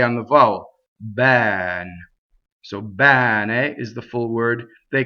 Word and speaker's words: bene: Next, bene is the full word. Bene. Okay, so this E is an open E. It rhymes with head in English, right?